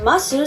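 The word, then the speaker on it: ます: Why do DESU and MASU sound like des and mas? When you say these words, you actually pronounce the vowel u, but the vocal cords don't vibrate enough, and you can't hear the sound u well.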